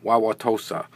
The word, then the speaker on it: Wauwatosa: Wauwatosa, that's how you pronounce that.